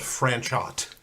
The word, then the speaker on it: Franchot: is francho tone francho his name is like spelled franchot pronounced francho stupid French what do you say